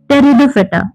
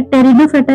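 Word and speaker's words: Pteridophyta: Then next हमारा जो type है वो है टेरिडोफेटा। अब इसमें पी लिखा हुआ है। टेरिडोफेटा इसको क्यों बोल रहे हैं? पी यहां पे साइलेंट हो जाता है। टेरिडोफेटा इसका बेसिकली नाम है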